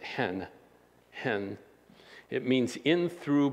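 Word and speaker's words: ἐν: in that passage it's a two-letter word e-n they pronounce it hen hen it means in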